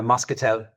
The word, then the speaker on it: Moscatel: I am super excited now to jump into the again, I don't know if I'm saying it correctly, but Moscatel. Yeah, Moscatel.